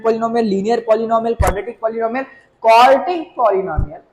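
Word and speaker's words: quartic: उसका नाम होगा भाई क्वार्टिक। आई एम not saying क्वाड्रेटिक, आई am just saying क्वार्टिक।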